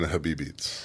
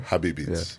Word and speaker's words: Habibeats: That's a play on Habibi and beats. So what's the right way to say put the words together? Habibeats. Yeah. Like you're saying the word Habibi. Yeah. But it's beats on that. Beats is the last vowel.